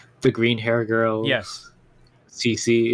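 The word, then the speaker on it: C.C.: green hair girl yes cc it's actually pronounced c2 and i'm like what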